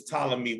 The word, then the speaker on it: Ptolemy: call him ptolemy but the p is silent it's ptolemy one and this is